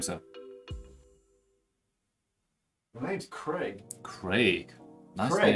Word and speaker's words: Craig: My name's Craig. Craig. Nice Craig. name. Craig. Craig. Even better. Even better. I like it already.